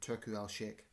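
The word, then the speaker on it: Turki Alalshikh: U Turku Alshik.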